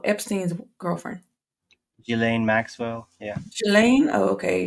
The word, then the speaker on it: Ghislaine: Ghislaine? Oh, okay. It's spelled kind of weird. So Ghislaine, yeah.